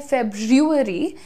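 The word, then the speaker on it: February: नाम हो जाता है आप या तो बोल सकते हैं फेब्रुअरी या फिर आप बोल सकते हैं फेब्रुअरी आर हटा दो एफ ई बी के बाद वाला जो आर है ना वो हटा दो आसान हो जाता है actually फेब्रुअरी फेब्रुअरी right फेब्रुअरी फेब्रुअरी right या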